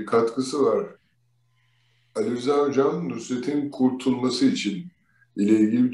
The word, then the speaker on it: Nusret: Şeyin adı, yani senin de vurguladığın gibi, sevgili Süleyman Hocamızın da vurguladığı gibi Nusret Nusret'tir. Nusrat değil.